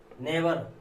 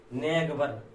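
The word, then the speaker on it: neighbour: Right sign, eight, freight, flight, नेवर। नेवर को क्या पढ़ेंगे? नेवर मीन्स पड़ोसी होता है, क्या पढ़ेंगे? जीएस का उच्चारण मैंने किया नेगवर, नेगवर मैंने नहीं किया।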